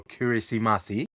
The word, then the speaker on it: Kiritimati: See with the local accents Christmas yeah and the ti kirati but in the local language ti is pronounced as an s.